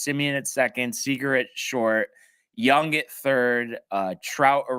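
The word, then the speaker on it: Jung: be All-Stars who's that third base uh Josh Young the third baseman for Texas he's like a rookie oh yeah yeah it's spelled junk but it's pronounced young um do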